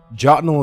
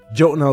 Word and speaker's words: Jotunhel: It's called Jotunhel or Jotunhel. I've seen this pronounced a lot of different ways. Jotunhel is the way I pronounce it. Jotunhel is the way I've seen it pronounced as well.